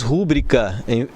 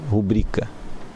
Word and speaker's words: rubrica: Na pronúncia, por exemplo, quando se diz rúbrica em vez de rubrica. Algumas pessoas dizem rúbrica, certo? Mas o correto, adequado seria rubrica.